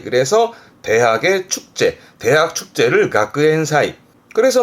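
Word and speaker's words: 学園祭: 그래서 발음은 가쿠엔사이. 그래서 대학의 축제, 대학 축제를 가쿠엔사이.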